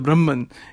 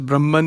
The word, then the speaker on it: Brahma: So sometimes it is pronounced as Brahman in the English language, but it is actually pronounced Brahma, or Akshara Brahma. So I'll be using Akshara or Akshara Brahma to clarify this, because I think it has been mispronounced by saying Brahman.